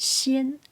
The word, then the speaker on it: 鲜: In Chinese, there is one word, xian. It pronounced xian, Xian, xian.